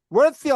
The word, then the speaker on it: worthy: 뭐가 될 수 있냐면 worthy of. 자, 다 같이 공부합시다. worthy of 밑줄고요. worthy예요. worthy. 띠가 발음 좀 어려운데 쌍디귿이라고 한다고 했습니다.